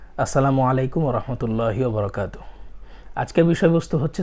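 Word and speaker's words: السلام عليكم: সালামটা শুদ্ধভাবে শিখে নিব সালামটা এভাবে দিবেন দিতে পারেন আসসালামু আলাইকুম ওয়ারাহমাতুল্লাহি ওয়াবারাকাতুহু অনেক সময় তাড়াহুড়া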